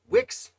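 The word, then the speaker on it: Wickes: okay 49 lambert wicks i've heard it pronounced wikis 2 which i know is wrong uh i believe it is wix got a little blurry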